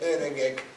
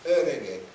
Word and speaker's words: öregek: Ellos, los húngaros parlantes no dicen öregek fijo, dicen öregek. Entonces, eso es lo que en la imagen anterior decía el tono, el autor, ¿no?